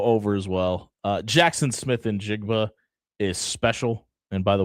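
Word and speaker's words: Smith-Njigba: Uh, Jackson Smith in Jigba is special. And by the way, that's how you properly pronounce his last name.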